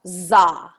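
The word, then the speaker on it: dza: And this seed syllable is D-Z-A, pronounced za.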